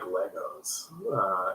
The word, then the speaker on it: Lego: It's not Legos. It's freaking Lego. Lego bricks is the plural, but Americans say, "Hey, man, I love my Legos," and you're like, "No, it's."